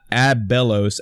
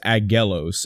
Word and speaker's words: Aggelos: It's not Abellos, A-B-B, it's Aggelos.